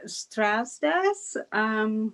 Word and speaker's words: Strasdas: Well, I said Strasdas. My kids always correct me, though.